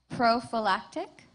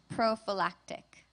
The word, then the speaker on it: prophylactic: Your word has 2 pronunciations: prophylactic, prophylactic.